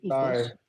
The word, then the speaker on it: oikos: Ikos, by the way, that's pronounced ikos. Sorry, ikos. And yeah, but you wouldn't know it's pronounced ikos because even the advertisement doesn't have it pronounced ikos.